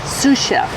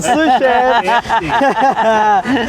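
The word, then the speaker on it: sous-chef: Um s chef. Not s chef. I wish I was a sushef.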